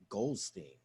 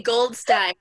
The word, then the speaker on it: Goldstein: Miss Goldstein. can you come on camera, please? Say my name right. Sorry, Goldstein. Stein. From the depths. That was Steen.